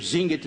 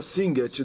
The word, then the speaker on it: Singet: Então, no coro 2, ele começa com a palavra Singet, 2 sílabas. Singet, singet.